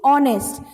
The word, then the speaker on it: honest: We will keep this H in silent, okay? So our pronunciation will be R, okay? Honest.